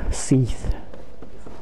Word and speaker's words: Seath: first opening cutscene did mention Seath. That's how I pronounce his name. Its name Seath, like a seat, but with H added to it just to make it sound more menacing.